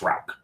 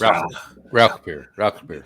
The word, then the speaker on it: Rauchbier: So, Rauch, that's Rauch. There's a little airy component in the Rauch. It's Rauchbier. It's not that roll though.